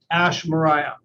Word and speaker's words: Ash Maurya: Ash Maurya.